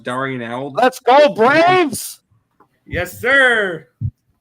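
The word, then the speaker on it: d'Arnaud: Darno with the home run. I love being an out late. That's what I love doing. Nick, his name is pronounced Darnell.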